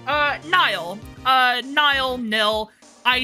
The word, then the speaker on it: Nihil: you pronounce nil uh it's technically pronounced Nile I guess because it's you know nism I always pronounce it as nil because Nils is an actual name n i LS uh but I think the way you're supposed to pronounce it is nil so it would be NY lights yeah like the river but also famously on